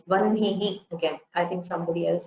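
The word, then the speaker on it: वह्नि: So the Sanskrit word for fire, vannihi, that we saw, we should not say vahnihi. We should not pronounce the hakara first.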